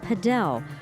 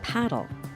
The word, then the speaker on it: padel: Adrian Mag calls it padel. Robert Kellberg says paddle. So just how do you say it? Overseas in Europe, it's called paddle. Here in America, you call it padel.